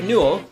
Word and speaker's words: Newell: and have it show up everywhere so gabe newell i think that's how you say his name newell n-e-w-e-l-l who is the boss over at val